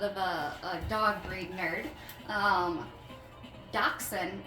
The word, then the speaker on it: Dachshund: a dog breed nerd, Dachshund is the correct pronunciation, because I believe it's a German word. Forgive me if I'm wrong on that one. Sounds German. Dachshund is not the correct way to pronounce it, and yes, you can call them wiener dogs, but Dachshund is, I guess, like in English, butchering mixed with the word bun, which I think is